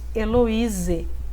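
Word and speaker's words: eloisae: acrescentar aí no final então Eloise se pronuncia A a soma do a e se pronuncia e né então peripatus Eloise a décima regra quando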